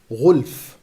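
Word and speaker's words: غلف: Firstly, let us mention that the vast majority of scholars recite the expression as ghulf, meaning that it is recited with a silent lam.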